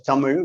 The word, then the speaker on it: Tamil: start to say that tamil as it has to be pronounced i'll be pronouncing this as tamil which is the way in which it is to be pronounced in the language is an ancient living